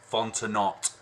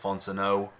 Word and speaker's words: Fontenot: like Isom but it's Isom Isom and then fontanot but it's pronounced Fontenot so fonten OT Fontana yeah um if you